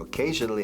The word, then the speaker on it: occasionally: Okay, fijaos en cómo se pronuncia. Se escribe con la O. Occasionally. Ocasionalmente. But the pronunciation is occasionally. A microphone, a table, a watch, a shirt, occasionally. Se pronuncia como una A inglesa.